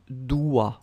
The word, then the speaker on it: dois: even if it's devoir, you can see that for the tu form, it's tu dois, wa. Final S not pronounced.